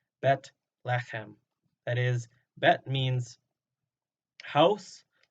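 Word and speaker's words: בית לחם: Bethlehem is our English pronunciation of the Hebrew compound word Bet-lechem.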